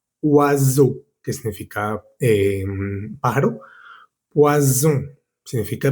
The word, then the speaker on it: oiseau: La O y la I suena wa, como en la palabra oiseau, que significa pájaro.